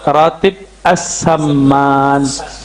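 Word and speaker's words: Ratib as-Samman: Ya, yang pertama tadi tentang ratib saman. Sebenarnya cara bacanya ratib as-saman. As-saman ya.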